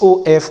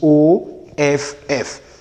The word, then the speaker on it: of: Now, if you pronounce this OF as off, what you pronouncing is OFF. So when you have OF, it is to be realized as of and not off.